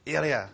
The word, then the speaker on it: Ilya: So I guess that this next question is mostly focused for Gun and how do you pronounce Ilya. Ilya. I keep getting confused with Ali.